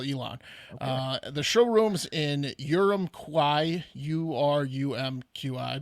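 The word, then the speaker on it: Urumqi: time good call elon uh the showroom's in urum kwai u-r-u-m-q-i butchered it but that's the capital of ching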